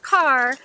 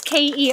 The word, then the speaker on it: Kerr: John H car damn it is pronounced car but it looks like it would be pronounced Kurtz keer are but pronounced car